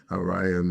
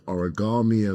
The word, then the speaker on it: Arayomi: Um, I believe that well, first of all, you're the first person to pronounce my surname right actually. So, that's that's an achievement. I have to say it sounds cuz it's a very complicated surname. So, Orion is the right phonetic and you actually said it phonetically, right? Which means maybe it's the Maltese tongue that was meant to pronounce it. Well, it's true. I've been called origami.